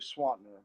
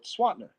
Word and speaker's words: Swanner: name and they said how do you pronounce it and I said well swatner they said SWAT SWAT